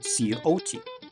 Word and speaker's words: Scioto: And I've also heard it pronounced Sciota and Scioto as well. And while the spelling variations are numerous, at least everyone pretty much agrees that the C in this case is silent.